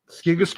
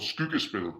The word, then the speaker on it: Skyggespil: It's it's Skigaspell? called it's called Skyggespil, yeah.